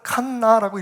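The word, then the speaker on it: קנא: 단어가 히브리어가 이렇게 쓰여지니까 발음 나는 대로 쓰겠습니다 혹은 칸나라고 읽으면 맞습니다 엘카나 질투하는 하나님 엘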